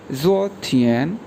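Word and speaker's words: 昨天: इसी तरह यस्टरडे के लिए जो वर्ड यूज़ करते हैं उसको बोलते हैं ज़ो थियन, ZUO सेकंड टोन, TIAN, ज़ो थियन, ज़ो थियन।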